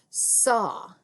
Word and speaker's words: saw: It's got that aw kind of sound. It almost sounds like an O sound at the end. Saw, ah. But we see an AW. It's a lot like the word say, except there's a W at the end. And that A makes a different sound in this word.